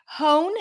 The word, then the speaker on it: hone: not pronounced what else hone you do pronounce the h hone honest you do